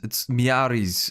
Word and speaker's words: Miaris: That is that's how you pronounce it. It's two different words. It's Miaris.